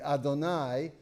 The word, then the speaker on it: Adonai: The first of those is pronounced in polite company, Adonai.